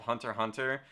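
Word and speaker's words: Hunter × Hunter: if you're gonna have a show called hunter hunter where the x is silent i don't know where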